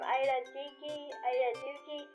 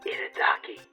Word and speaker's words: Itadaki: I'm thinking something from Ida Duki. How do you say that? Itadaki.